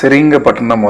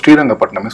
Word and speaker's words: ஸ்ரீரங்கப்பட்டினம்: அந்த சிறீரங்கப்பட்டினம் வந்து ஒன்றும் இல்லை, நம்ம ஸ்ரீரங்கப்பட்டினத்தை தான் வந்து ஆங்கிலேயர்கள் இவ்வளோ மோசமாக ப்ரொனவுன்ஸ் பண்ணி சிறீரங்கப்பட்டினமாக்குனாங்க, நம்ம ஸ்ரீரங்கப்பட்டினமே சொல்லுவோம். So treaty of ஸ்ரீரங்கப்பட்டினம்.